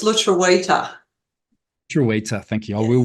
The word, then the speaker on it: lutruwita: It's lutruwita.